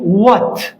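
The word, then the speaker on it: what: الكلمه الاولى ماذا وتعني وات وات هذا الاتش سايلنت يعني صامت اذا اجا دبليو وبعده اتش دائما الاتش صامت ما عدا هذه الكلمه راح نجي لها طيب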